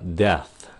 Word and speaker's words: death: Cái âm th đứng sau cái chữ đa số các bạn sẽ bị gặp trở ngại là tại vì các bạn phải cho cái hơi ra một tí xíu khi mà các bạn phát âm nó xong. Các bạn lấy cái lưỡi chận cái hơi tí xíu lại cho nó xì ra tí xíu là như một cái